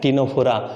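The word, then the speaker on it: Ctenophora: सी यहाँ पर साइलेंट है, इसको प्रोनाउंस करते हैं टिनोफोरा।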